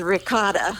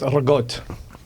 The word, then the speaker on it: ricotta: Google says ricotta or some Some crazy. It's pronounced regot.